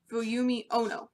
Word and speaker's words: Fuyumi Ono: I think I pronounced that right. Fuyumi Ono. No. Fuyumi Ono.